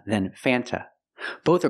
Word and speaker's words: Fanta: is pronounced f f use the short a sound before the N it changes a little bit it becomes a little more nasal in your nose f